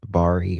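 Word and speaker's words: Barrie: Is it how you pronounce it? Bari or Barry? Bari Barry has been charged with Barry. Okay.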